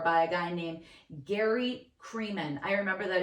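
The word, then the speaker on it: Kremen: a guy named Gary creeman I remember that his name rhymes with semen Siemens it was in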